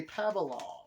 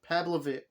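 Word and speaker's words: Pavlovich: via knockout over sergey pavalov and pablovick there we go i finally said it right pablovick sergey pavlovic got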